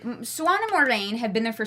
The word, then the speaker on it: Moiraine: It's pronounced Moiraine.